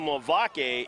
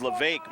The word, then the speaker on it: Levesque: it out of play I was calling lavake it is Levesque Myles Levesque thankfully get